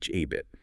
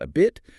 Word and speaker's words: habit: Say habit. Not a bit, but h a bit. Feel the air.